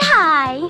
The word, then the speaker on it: high: But sometimes the GH at the end of the word is silent, like in the words do, though, sigh, and high.